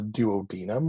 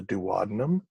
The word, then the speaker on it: duodenum: The first one is called the duodenum or the duodenum, depending on how you pronounce it.